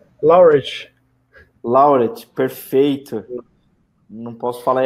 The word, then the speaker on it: Laureate: Parabéns aí, muito obrigado demais aí por compartilhar a experiência que você tem aí a me ajuda a pronunciar aí o nome, é Laureat, é isso? É, Laureate.